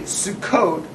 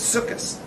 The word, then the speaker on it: Sukkos: It's Sukkos, right? Otherwise, you're mispronouncing it. You're pronouncing it like a Sfard, but you're not Sfard. So it's just a mispronunciation.